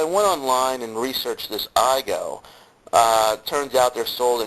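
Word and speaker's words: Aygo: spelled a YG o it's a Japanese name pronounced IO so I went online and researched this iigo uh turns out they're sold in Europe for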